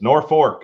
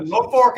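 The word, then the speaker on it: Norfolk: so it's Louisville and it's North Fork if you're in Nebraska North Fork I got that one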